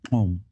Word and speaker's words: gqom: I heard Amapiano, and I heard another style of music called Qom.